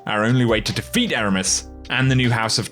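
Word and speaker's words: Eramis: europa we're going to meet aramis which is exactly how he pronounces the name by the way i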